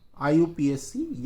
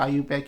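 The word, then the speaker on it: IUPAC: और आईपीएससी पद्धति के द्वारा जो लिखा जाएगा वो आईयूपीएससी या आईयूपैक, उचित प्रोनाउंस उसका आईयूपैक ही होता है, आईयूपीएससी नेम होगा।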